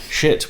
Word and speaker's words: Schiit: Shit with a silent I, isn't it?